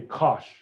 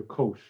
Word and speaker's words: cosh: This one I say kosh, or sometimes I hear kosh or kosh. I don't really know how to say this.